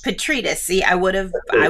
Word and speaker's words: Petrides: to make sure i'm saying it correctly so petritos petritus see i would have i would have americanized